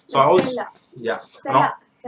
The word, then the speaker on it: Mphela: Fela. Kamo Mphela. M is silent.